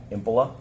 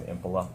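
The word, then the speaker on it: Impola: Can you please state your name and spell it for the record? Sure. My name is Impila. H E N R I K. Last name Impila.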